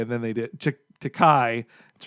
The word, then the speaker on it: Takei: My theory is that they thought they could get George Takei, and then they did Takei. That's right. And Wait, no, then Takei. Damn it! I said it right the first time, and I doubted myself.